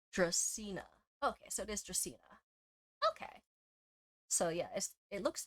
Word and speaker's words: Dracaena: How do you pronounce it? Dracaena. Okay, so it is Dracaena.